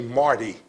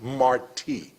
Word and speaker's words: Martí: Some of the new residents that come to Tampa may say Marty Street. But those of us that know Tampa history know that the force of pronunciation is in the I, Martí.